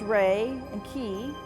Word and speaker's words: Reiki: Reiki is actually the um it's pronounced ray and keyi.